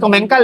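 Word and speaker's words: Commencal: Comencal sa atin kasi komencal eh. Pero sa kanila pronunciation Oo Comensal eh. So basta parehas lang yan.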